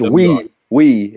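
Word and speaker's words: oui: It's we. It's the French yes.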